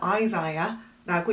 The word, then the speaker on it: Isaiah: 이사야는 영어로는 Isaiah라고 읽고요.